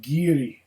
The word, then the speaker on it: Garioch: from which particular's name are pronounced ghiri as in chiri in the ancient doric dialect still spoken in these